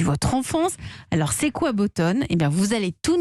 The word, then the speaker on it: BoatOn: fondateur de boston alors bottone ça s'écrit en fait c'est en anglais ces boat one incessants bo à théo end on a décidé de l'appeler bottone c'est ça absolument c'est